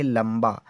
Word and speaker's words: लंबा: एल से तो प्यारे बच्चा ला होता है, ए साइलेंट रहेगा, एम से आधा माँ, बी से वाह होता है और ए का मतलब बड़े आ की मात्रा। हमने यहाँ पर लंबा लिखा।